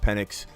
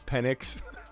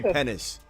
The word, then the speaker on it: Penix: I don't know if you guys saw Howard, Desmond Howard, when he was trying to pronounce Penix. He kept calling him. I think he did say penis.